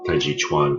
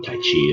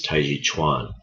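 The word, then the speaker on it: taijiquan: are hard consonants so the K is pronounced more like a g the t is pronounced more like a d so it's not colorful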